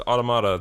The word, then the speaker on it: automata: thought of that alrighty but also it's it's automata that's how they say it in the video